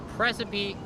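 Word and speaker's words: praecipe: Well, it's actually it sounds like recipe. It's spelled unlike recipe. P R A E C I P E on September 7 I can file a precipy for default uh judgment which means basically I win.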